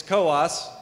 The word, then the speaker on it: Coos: here in Coos County it's Coos don't pronounce it any other way and uh representing Coos